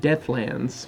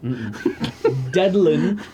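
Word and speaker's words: Dedlan: I'm pretty sure you pronounced it death lands when we first started. The land of death. Deadlin. D E D L A N.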